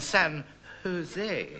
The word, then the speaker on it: San Jose: it's San Juan and San Jose shout me God yes in Spain they always pronounce the J's as H when do you think